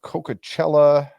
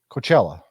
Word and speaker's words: Coachella: be starting this Thursday at the Dome against coca-cella Valley which I they are the who are they the is that how you pronounce that Coachella Coachella it's a Coachella okay so Coachella that's